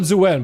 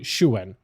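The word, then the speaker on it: Xuen: I call it Zhuen, but I'm pretty sure it's... I was told exactly how to say it. I'm pretty sure it's supposed to be like Shuen. I'm pretty sure it's actually supposed to be Shuen. Yeah.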